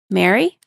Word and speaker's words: merry: that thanks yeah okay how do you pronounce the words okay m a r y Mary m e r r y Mary Mary M a r r y Mary wait what's that last word they sound are they're all all the same right yeah it's Mary Mary